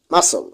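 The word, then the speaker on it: muscle: এস এর পর সি থাকলে সি এর উচ্চারণ হয় না।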